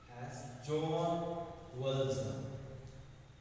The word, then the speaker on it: Jean Valjean: To be pronounced as John Valjean.